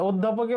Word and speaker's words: অধ্যাপক: যেহেতু ধয়ের সাথে জ ফলা আছে, তাই অ এর উচ্চারণটা ও এর মতো হবে। তাহলে অধ্যাপকের উচ্চারণ প্রথমে হবে ও, এরপর ধয়ের সাথে জ ফলা। আমরা জানি কোনো ব্যঞ্জনের সাথে জ ফলা থাকলে উচ্চারণের নিয়ম হচ্ছে ওই ব্যঞ্জন দ্বিত্ব হবে, মানে 2বার উচ্চারণ হবে। তাহলে ধ 2টা হবে।